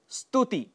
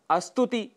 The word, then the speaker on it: स्तुति: ऐसे ही स्तुति, जिसके लिए हम अस्तुति कह जाते हैं।